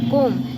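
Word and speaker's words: comb: सी ओ एम बी कोम इसको कोम पढ़ते हैं बी साइलेंट होता है कोम कोम का मतलब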